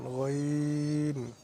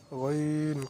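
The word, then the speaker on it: غ: হরফ উচ্চারিত হয়, যেমন গইন, গইন। কণ্ঠনালীর শেষ হইতে একটি হরফ উচ্চারিত হয়, যেমন গইন, গইনের উচ্চারণের সময় এভাবে উচ্চারণ করবেন, চিত্রের মাঝে যেভাবে দেওয়া আছে। কণ্ঠনালীর শেষ হইতে গইন উচ্চারিত হয়, যেমন গইন, গইন।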